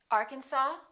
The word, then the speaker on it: Arkansas: cupboard say cupboard my kitchen cupboard silent s Arkansas Illinois Island debris all right one more silent